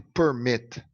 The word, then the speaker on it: permit: To permit. O verbo permit, eu tenho consoante, vogal, consoante, ok? Só que a sílaba tônica é a última sílaba.